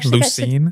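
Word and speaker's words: Lucien: Lucine. Lucine. Yes. How do you spell it?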